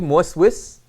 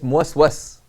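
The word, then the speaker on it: مُوَسْوَس: You become muwaswas. Right? And it's a common mispronunciation. The Arabs typically say muwaswis, but it's muwaswas.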